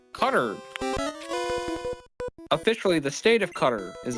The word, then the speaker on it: Qatar: But yes, in you know, people from, you know, the the Arabic pronunciation seems to be cutter.